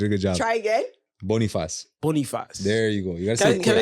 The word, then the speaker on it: Bonifaz: Bonifaz.